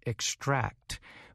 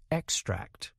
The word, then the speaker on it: extract: So when using the word to describe taking something out, we emphasize the last part of the word, extract.